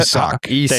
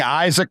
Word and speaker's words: Isaac: You're just saying Isaac with like a little. I'm trying to say it right. Yeah. Isaac. No, you're using a Z. It's an S still. Isak. Closer. Isak.